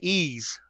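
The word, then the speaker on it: Eze: who to take all right let's draft obina ease from tcu yeah now you're not you're thinking i i don't know how to say his name so so sorry about butchered it well ease you said it right okay rayshawn you are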